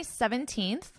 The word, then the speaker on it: 17th: My tongue comes between my teeth and I push out.